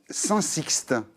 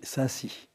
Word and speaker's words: Saint-Sixte: autre commune qui s'appelle Saint-Sixte. C'est ça? Je vais corriger Saint-Cy. Saint-Cy, pardon. Le X, nous, on ne prononce pas. Ah, on ne prononce pas On dit Saint-Cy.